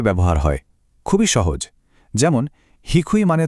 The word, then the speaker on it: 低: প্রথম কাঞ্জিটা দেখুন তো, এর উচ্চারণ হিকুই।